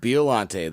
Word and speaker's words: Biollante: We're going to go with Biollante.